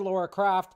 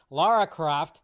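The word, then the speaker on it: Lara Croft: actresses that are on the short list for Laura crof Laura Croft say it right Sophie Turner and Lucy Boon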